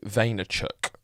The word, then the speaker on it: Vaynerchuk: speaker at the moment on the internet, Gary Vaynerchuk, and that's how you say it, or Gary Vee as he's shortened it for branding purposes.